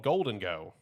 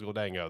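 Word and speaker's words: Gholdengo: I thought it was Gulango this entire time. That's how I've heard everyone pronounce it, but they said it in the trailer. It's like Golden Go.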